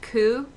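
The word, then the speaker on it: ku: again with the pronunciation the number nine is sometimes pronounced coup which can mean suffering.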